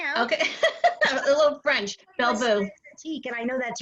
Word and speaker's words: Belle Vous: Belle Vous.